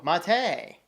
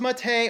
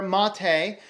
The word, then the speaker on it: MATE: so this is pronounced Mattei or Mattei depending on dialects and whatever else it's just not pronounced mate it comes from the Spanish herb I believe it's Spanish